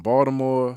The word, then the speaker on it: Baltimore: From Baltimore, you said it right, too. Soft tea.